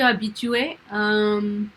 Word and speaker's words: habituée: me suis habituée. Tu es habituée, c'est ça? Je me suis habituée. Je me suis habituée.